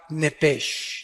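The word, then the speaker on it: נפש: el original hebreo es la palabra nepes apúntala como suena nepes con sh se pronuncia nepe al morir algo se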